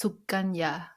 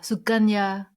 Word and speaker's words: Sukunya: everybody call me Suki actually the tie name is pronounced suganya Su yeah suganya suganya yeah Su yeah but I don't want to spell it with the G so I was like